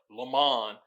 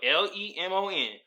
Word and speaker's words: Lamont: like to call himself Lamont. I call this nigga Lemon. Nigga, what you think you is, French? Lamont. They call me Lamont. It's spelled Lemon. We in America, buddy. It's Lamont.